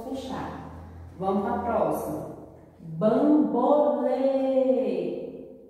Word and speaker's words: Bambolê: Bambolê. Lê é a sílaba mais forte e o som é fechado. Então, se o som é fechado, usarei o acento circunflexo.